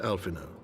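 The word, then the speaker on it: Alphinaud: The honor is mine, Master Alphino. Consider it an expression of our gratitude for your service to Ishgard. I always forget the D is silent in his name.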